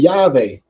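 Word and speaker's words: Yahweh: say Jehovah but I always say Yave because it never was a J in the dialect and are used by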